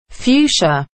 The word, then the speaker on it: fuchsia: extended the colors with one color that no one knows how to pronounce and before i pronounce it i thought i would ask google how to pronounce this and the answer is fuchsia so i'll call it